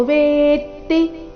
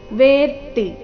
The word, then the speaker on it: वेत्ति: ಏತಾಂ ಇಲ್ಲಿ ನಾಸಿಕಾವ, ಏತಾಂ ವಿಭೂತಿ ಇಲ್ಲಿ ನಾಸಿಕಾಯ, ವಿಭೂತಿ ಯೋಗಂಚ ಇಲ್ಲಿ ಚ ವರ್ಗದ ಅನುನಾಸಿಕ ಯ, ಯೋಗಂಚ ಏತಾಂ ವಿಭೂತಿ ಯೋಗಂಚ ಮಮ ಯೋ ವೇತ್ತಿ, ವೇತಿ ಅಲ್ಲ ವೇತ್ತಿ, ಮಮ ಯೋ ವೇತ್ತಿ ತತ್ವತಃ ಸೋವಿಕಂಪೇನ ಯೋಗೇನ ನ ಹ್ರಸ್ವ ಯೋಗೇನ ಯುಜ್ಯತೆ ಯು ಮೇಲೆ ಆಘಾತ ತೇ ದೀರ್ಘ ಯುಜ್ಯತೆ ನಾತ್ರ ಸಂಶಯಃ.